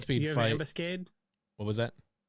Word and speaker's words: ambuscade: Have Ambuscade? What was that? Ambuscade. Ambuscade. It's like ambush if the H was the word cade.